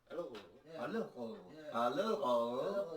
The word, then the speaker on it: Allerød: Allerød. Yeah, that's pretty much. Did I say it right? Allerød.